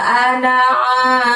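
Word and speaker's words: أنا: Terus setelah wala ada lafaz ana. A-nya buka lebar mulutnya. Ana, na-nya pendek ya. Meskipun di tulisannya ada alifnya, tapi kita bacanya pendek.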